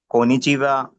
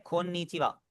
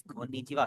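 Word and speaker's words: こんにちは: कोनिचिवा, sayonara, हाय, ये। Yes excellent. जो है ना, यहाँ पर थोड़ा सा फोकस करें, डबल एन है इसीलिए आप इसे पढ़ें कोन्निचिवा। Okay sir, कोनिचिवा। यस कोन्निचिवा।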